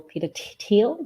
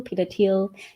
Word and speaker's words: Thiel: Mercer Charles Koch um Peter Thiel Peter teal to pronounce the teal Peter Thiel even Elon Musk who